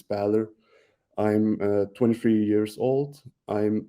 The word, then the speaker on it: Bähler: so first again about me I'm the pronunciation was correct like it's Balor I'm 23 years old I'm something like a